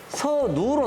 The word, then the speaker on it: 선우: 원래는 이 서누인데 서누로 나오죠. 이런 식의 쌍발음이나 명확하지 않는